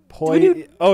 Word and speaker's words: Pollo: El Polo Diablo. El Pollo? Is it? Ooh, maybe it's El Pollo. El Pollo Diablo. All right, there you go. I said it right. Maybe. Maybe. Fuck off. Poi. Oh, yeah.